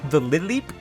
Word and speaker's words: Lileep: The only chance I had to name something Stubtoe was probably the Lileep, which is how it's pronounced, by the way, in case anyone didn't know.